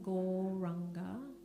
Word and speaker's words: Gauranga: The mantra is the one that I was singing in the conscious listening, Gauranga. And it's said in 4 syllables, Gaur, Ra, Anga.